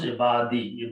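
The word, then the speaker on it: عِبَادِي: So it becomes ibadi.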